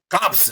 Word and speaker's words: corpse: Human dead body is crops, sir. Corpse. CROPSE. CROPSE. Corpse. Not crops. Corpse. R is silent.